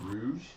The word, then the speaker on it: Rouge: Oh, is it Rouge? You called her rogue the first time you saw her name. That's what it spelled like.